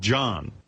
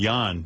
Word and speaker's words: Jan: It's pronounced Jan. Jan. Jon. Jan. And by the way, tell Jan it's John in this country. Jon is John. It's Danish. Well, whatever. This is America, pal. Jan is Y-O-N.